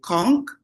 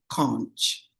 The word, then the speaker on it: conch: So we say conch, tourists say conch.